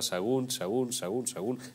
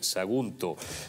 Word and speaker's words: Sagunto: No sé si es que dice, quiere decir Sagunto, pero se come la última sílaba. Sagún. Que no, Pepe, Sagunto.